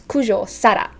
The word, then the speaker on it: Kujo Sara: we don't know but it's kujo sara in the rolling r again okay next we have